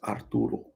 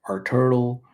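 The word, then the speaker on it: Arturo: your actual name my actual name is aruro but most people can't say aruro some people say AR Turtle udle uro udle artile everything but aruro I kind of cut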